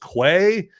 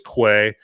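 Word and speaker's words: Kwei: Okay, and then his older, bigger brother, I believe his name is pronounced Quay. I could be butchering that, but I think it's Quay.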